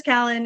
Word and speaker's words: Callan: i'm excited and also my name is callan it's pronounced like calendar hope you hope that